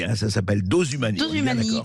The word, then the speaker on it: Dosumani: Dose Humani, comme ça se prononce, vraiment, il n'y a pas de H, rien.